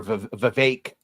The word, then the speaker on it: Vivek: I see him me, and him are Vivek. Rhymes like with cake. That's how you say it the right way.